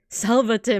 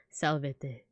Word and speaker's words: salvete: Salvate, Magister. Is that how to say it in Latin? Salvete.